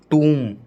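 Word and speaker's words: tomb: एम बी आर बी, एम बी आर बी में बी हमेशा silent रहेगा।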